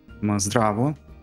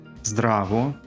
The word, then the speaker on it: Здраво: Здраво. Здраво? Здраво.